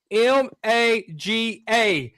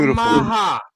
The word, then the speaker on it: maga: It's spelled M-A-G-A. A lot of people call that MAGA. But he did the Puerto Rican flower called the Maha.